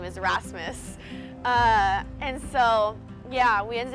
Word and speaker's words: Rasmus: I couldn't even pronounce his name right I said like Rams s or Aramis like I didn't even pronounce it correctly I basically ignored him for